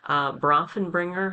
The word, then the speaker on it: Bronfenbrenner: Bronfenbrenner, I believe is the proper pronunciation of his ecological systems theory.